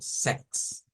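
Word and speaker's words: sechs: El 6 en alemán lo vamos a decir como Sex, Sex. Ya los voy a escribir para que tengamos una idea más clara de ello. Y el 16 lo vamos a leer como sextens, sextensen, sextensen, sex y sextensen.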